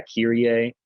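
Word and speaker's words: Κύριε: So yeah, Kyrie, like Epsilon there. Kappa, Epsilon, Rho, Iota, Epsilon, Kyrie. Notice that accent mark above the Epsilon. Kyrie.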